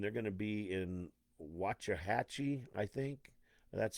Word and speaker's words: Waxahachie: Now, C10 America is going to be out this weekend, and they're going to be in Waxahachie, I think.